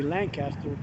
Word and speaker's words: Lancaster: been here that long most people say lancaster which is the proper pronunciation being that it was named for lancashire india uh england sorry